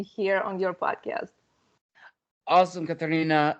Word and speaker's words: Karina: actually curious to you you pronounced my name the right Russian name Karina which very very awesome